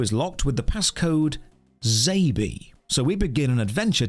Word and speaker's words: XABY: ZABY means X-A-B-Y, which would phonetically be pronounced ZABY.